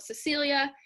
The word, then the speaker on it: Cecil: a museum now and they told me that it is pronounced cecil so i was i'm